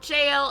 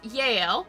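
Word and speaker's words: Jael: cool and his wife some pronunciations have it jail and some of it is Yale was not down with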